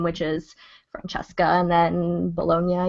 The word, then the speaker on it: Bologna: is Francesca and then Bolognia, even though it's spelled like Bologna. B O L O G N A.